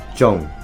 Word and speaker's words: Zhong: a tad bit easier you first um say the word own and then add a g sound at the end and make own and then add a J in front so Zhong and then play is